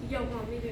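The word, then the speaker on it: Johann Suter: It's actually pronounced Johann Weber in Switzerland.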